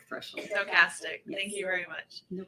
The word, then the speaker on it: stochastic: two terms I should say yes am I pronouncing it correctly stochastic threshold stochastic thank you very much no problem um can